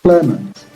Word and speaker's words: Clement: So the first syllable usually attracts the stress. So we have Clement.